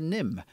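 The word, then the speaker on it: Nymn: follows a young creature NIMH with a silent n on the end by the way who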